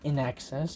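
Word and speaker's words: INXS: Need You Tonight by In Excess. Yes, that's how you pronounce it.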